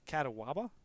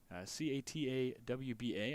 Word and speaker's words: Catawba: It is Catawba, Catawba. I always forget that there's the O that is unpronounced, is not appearing there.